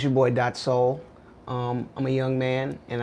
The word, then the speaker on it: Daht Soul: this his name is not soul yeah that's pronounced soul healed his spell daht soul so now we